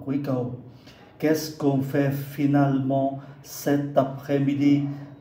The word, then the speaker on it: finalement: Qu'est-ce qu'on fait finalement cet après-midi? Âm ơ ở giữa hai âm tiết, âm này không có phát âm.